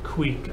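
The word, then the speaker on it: kveik: which is really cool pronounced queek I was pretty right pretty close we got about six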